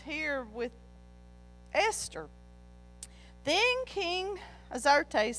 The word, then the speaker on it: Xerxes: King Xerxes, and it says Azarias, but Xerxes is how it's pronounced in ours.